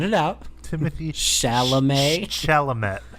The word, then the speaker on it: Chalamet: Chalamet. Chalamet. The T at the end is silent.